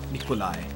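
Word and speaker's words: Nicolai: anastacio in the e.coli Nikolay is how they pronounce it but yeah wonder what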